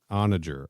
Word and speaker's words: onager: the internet onager onager you were right Kenny it's on a jerk onager onager he's saying it seven